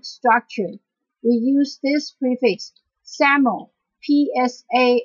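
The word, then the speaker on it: psammo: we use this prefix saml PS m m o the P the first letter P is not being pronounced so it's pronounced as Sam our example is Sam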